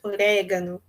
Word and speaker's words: orégano: Saiu bem sutilmente esse orégano, mas se vocês observarem atentamente, ela também pronunciou um pouquinho fechado, né? A gente diria mais aberto, orégano, essa vogal E, né?